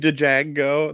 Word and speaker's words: Django: I was just gonna say that what he says, "Fuck you, Django," that he shoots him, says the D is silent, hillbilly.